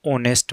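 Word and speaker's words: honest: फिर है जोडी वाज ऑनेस्ट मैन अब हमें पता ऑनेस्ट का उच्चारण करेंगे ना तो पहला अक्षर क्या आएगा ओ पहली ध्वनि क्या आएगी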